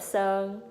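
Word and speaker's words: Sơn: So when you think of Son, I would imagine you can pronounce it like son. Like, think of him like our son.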